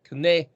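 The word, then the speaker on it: קנא: Kuf nun aleph, which would be kind of looks like it should be pronounced the same. Kana is more like kane. The aleph is silent as in an eh.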